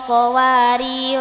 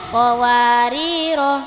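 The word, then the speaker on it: قواريرا: sebutkan qir qwar qwar min fid em cara membaca lafaz qawarira ini ada berapa? Tiga. Coba yang pertama gimana cara bacanya? Qari qowar qowaro. Jika wasol dibaca qawariro. Jika waqof dibaca qwar.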